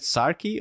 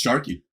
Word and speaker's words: Sarki: Is it Sarki or Sharky? It's Sharky. Okay, nice.